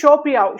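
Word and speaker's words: 手表: Okay, next வந்து ஷோபியாவ். Show அப்படின்னாலே வந்து என்ன அர்த்தம்னா ஹேண்டுன்னு அர்த்தம். அப்போ இந்த இடத்துல நம்ம தேர்ட் டோனை வந்து செகண்ட் டோனா மாத்திக்கிறோம். அப்பதான் நம்மளால நல்லா ப்ரொனவுன்ஸ் பண்ணலாம். ஷோபியாவ்.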